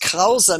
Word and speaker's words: Kraus: In German pronounced Krause means curly-haired.